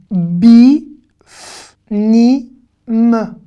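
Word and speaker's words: בפנים: Bi, f, ni, m. Bi, f, ni, m. Bifnim. Encore ce yud qu'on ne prononce pas.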